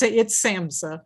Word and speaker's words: SAMHSA: It's SAMHSA. SAMHSA, okay. The H is silent.